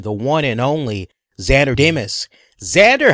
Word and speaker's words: Demos: but it went is because it's Greek it's just pronounced Dimas so it's like it looks like demos and there one thing's